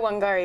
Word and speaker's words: Wangari: her name again I hope I'm going to pronounce I know wangari is correct I think I think you pronounced